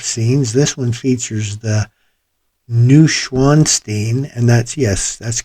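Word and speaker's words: Neuschwanstein: a variety of scenes this one features the new schwanstein and that's yes that's correct don't even bother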